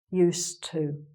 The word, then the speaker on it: used to: "Use", but then when we come to this, "use", "used", "used to". Okay? So just remember there is a slight change of pronunciation when you say "to get used to something".